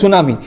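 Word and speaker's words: tsunami: দেখো সুনামি কিন্তু আমরা যখন প্রোনাউন্স করছি এস আসছে কিন্তু টি দিয়ে শুরু, TSU NAMI, সুনামি।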